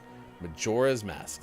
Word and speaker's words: Majora's Mask: say that Zelda game Majora's Mask Majora's Mask like the majority yeah majorism the majority